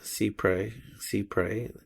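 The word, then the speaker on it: cy-près: In this situation, American courts apply the doctrine of Cyprus, pronounced cypre, and meaning in French law, so nearly or as near as possible.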